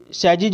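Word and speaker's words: sages: सैजिज बोलेंगे, सेक्स नहीं बोलिएगा, सेक्स नहीं बोलिएगा, हमेशा याद रखिएगा जी के बाद अगर ई होता है तो इसका उच्चारण ज होता है।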